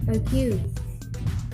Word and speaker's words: argue: And the primary stress on the first syllable is like argue, argue.